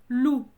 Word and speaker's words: loup: Chez moi, les loups sont à nos portes. Alors, attention, ici, c'est l'animal, hein, un animal, le loup, hein, d'un canidé, je crois. Loup, on ne prononce pas le P, hein, comme coup.